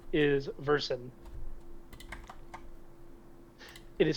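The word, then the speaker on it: Verson: Oh, and uh the name is Versen. It is spelled V E R S O N.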